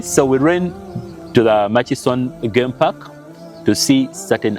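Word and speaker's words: Murchison: Mas Falls ma maction some of you say maction it's m ma it's machis machon yeah machon FS okay yeah that's the right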